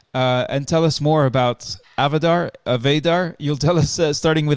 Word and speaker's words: Avadar: So essentially, Avadar means, it's pronounced Avadar, and it's, like you rightly said, audiovisual AFP detection and reporting.